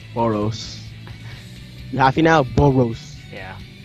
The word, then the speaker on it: Boros: only person that didn't die one punch was Boris in The Last Arc Boris Bor Boris Boris Boris and so pronouncing it like it's b o r i s well in reality it's b o r s boros you happy now boros yeah so um let's